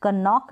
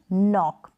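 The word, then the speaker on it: knock: कनाइट नहीं, निट, और कनॉक नहीं, नॉक।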